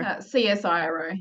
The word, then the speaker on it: CSIRO: So is it Cisco Publishing? Is that how you say it? Or CSIRO, yeah, okay, publishing.